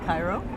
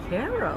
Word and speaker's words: Cairo: Or if you're down in Georgia, you know, how would you say Cairo? The capital of Egypt. Cairo? Yeah, but in Georgia they say Cairo. Cairo.